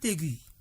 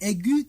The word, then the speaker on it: aigu: Florent, c'est aigu qui s'écrit A U G U. Comment doit-on le lire donc ? Prospère, il faut le lire. Aigu.